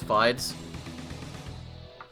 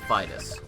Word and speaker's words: Vitus: particularly this guy's name I intended for it to be pronounced Vitus it is I think the way it looks it's pronounced abides but it is pronounced at least the way I've intended it to be pronounced it's pronounced Vitus all right I'm just